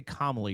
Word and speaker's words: Kamala: If you don't say Kamala, you're racist. So I say it. I say it the non-racist way, according to her minions. It's Kamala.